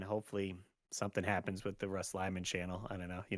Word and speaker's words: Russ Lyman: but so my name's Russ Lyman and people often confuse it reading it together as rustley man cuz how it's spelled r u SS l like a rustly man like a I'm a